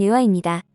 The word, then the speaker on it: 女媧: 인류의 시조 격인 존재로 현대 표준 중국어 발음은 유화입니다 복희의 누이 동생이라는 설과